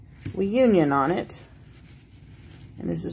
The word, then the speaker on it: WEIYOUNIN: All right, this is a wooden bath brush by WEIYOUNIN, is how I think it's pronounced. WEIYOUNIN, kind of sounds like reunion. It has we and you.